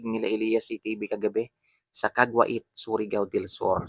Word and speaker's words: Caguait: So ganun po yung pag-pronounce guys ha. Kagwait. Yan may mga naririnig kasi ako kagwit. Kagwit daw yan. Hindi po kagwit. Kagwa kagwait po 'yung tamang pag-pronounce Makio.